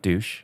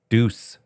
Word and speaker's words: deuce: It's not douche. What? What? Deuce. What? Deuce. It's not douche. Revved up like a deuce.